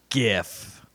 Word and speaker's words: GIF: Oh, did the inventor of the GIF say it's GIF? That's correct. Oh, man. Wow. To me, I bring That's it back to it's I for graphic, which is a hard G.